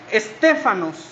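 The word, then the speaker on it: στέφανος: Corona viene derivada de una palabra griega que se dice o que o que se pronuncia stefanos ustedes conocen Quién fue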